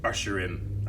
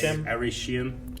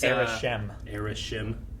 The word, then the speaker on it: Arishem: It's the archaic way of Usherim. I don't know how to pronounce it. I mean, it's Arishem. It's Arishem.